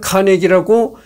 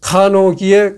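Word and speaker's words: Carnegie: 카네기는 스코틀랜드 출신이었기 때문에 본인은 자기 이름을 카네기라고 두 번째 음절에 강세를 넣어서 소개했지만 오늘날 영미권에서는 간호기에 가깝게 이름절에 강세를 넣어서 발음하는 경우가 많다.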